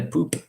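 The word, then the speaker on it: Pupp: Essentially, the hotel was called the Grand Hotel Poop, but it's spelled Pop, but they call it Poop.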